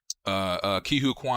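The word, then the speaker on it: Ke Huy Quan: Ki-Hu Kwan, I think that's how you say his name.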